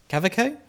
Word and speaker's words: Kaweko: well this is a cavaco cavaco that's how you pronounce it it looks like kaweko but it's German so I'm assuming it's a cavico but this is the